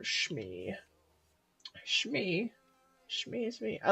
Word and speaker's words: Smee: It's spelled Smee, but it's spelled Shmi.